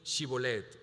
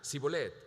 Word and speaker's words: Shibolet: no Entonces le decían ahora pues di shibolet y él decía zolet porque no podía pronunciarlo correctamente entonces lech echaban mano y